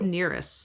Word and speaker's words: Nereus: is Nereus. Is that how you say it? Yeah. Nereus. I mean, you're not wrong.